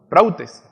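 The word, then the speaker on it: πραΰτης: En el versículo de Gálatas 5:23, ya lo leímos, la palabra mansedumbre viene del griego prautes, ¿sí? Con acento en la U, prautes, que significa, escuche bien, significa dulzura, apacibilidad, es decir, por implicación humildad.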